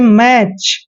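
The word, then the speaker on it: match: प्राय अक्षर ऑफ जैसे मैच मैच में भी टी सी एच तीनों लेटर इकट्ठे आए हैं तो यहां पर हमेशा टी साइलेंट रहता है इस कंडीशन में इसको पढ़ते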